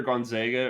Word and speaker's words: Gonzaga: Is it Gonzaga or is it Gonzaga? Like, how do you pronounce it? Okay, so it's either Gonzaga or Gonzaga. It doesn't really matter. Just don't say Zaga.